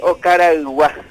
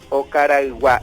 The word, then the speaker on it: Okaraygua: Bueno, tierra adentro se dice Ocaraguá. Ocaraguá. Ocara en realidad lleva Ocara. una Y entre la... después de Ocara, ahí lleva una Y. Ocaraguá. Ocaraguá. Esa es la manera correcta de pronunciar y de escribir también.